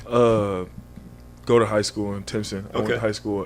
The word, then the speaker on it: Timpson: But we always like to start at the beginning, and I think it's pronounced Timpson, Texas.